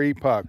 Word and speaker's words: Epoch: Is it epic or epoch? Epoch. Epoch. Oh, I got that one right.